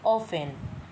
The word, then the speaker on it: often: Pronunciation होगी ऑफेन।